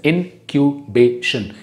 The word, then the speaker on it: incubation: इनक्यूबेशन period, the word is pronounced as इनक्यूबेशन.